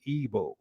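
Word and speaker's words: Igbo: was eventually shortened to evo that g is at times silent according to evo scholars and authorities arie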